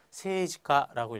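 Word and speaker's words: 政治家: 다음 세이지카라고 써서 읽을 때는 장음 넣어서 세이지카라고 읽게 되죠.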